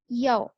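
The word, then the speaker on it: 一: हम कोई भी नंबर बताएंगे ना, for example actually it's about E versus याओ.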